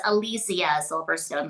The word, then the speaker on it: Alicia Silverstone: Um, it's Alysia Silverstone, by the way. That's how it's pronounced.